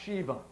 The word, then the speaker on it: Shiva: You'll see here from the book Two Babylons that Shiva, right here, Shiva or Siva as it's in some places pronounced, is a child of the sun.